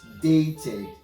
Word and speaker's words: dated: The last example is dated. Dated. Dated. Dated. And the pronunciation is going to be something like this.